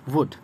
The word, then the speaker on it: wood: And another वर्ड इज़ वुड, WOOD, वुड। इसे उड नहीं पढ़ते, ध्यान रखेंगे आप, वुड पढ़ेंगे। WOOD को वुड पढ़ेंगे, लाइक WOOL को वुल पढ़ते, वुल, व का साउंड पहले आएगा इसलिए वुड पढ़ेंगे, क्योंकि W का साउंड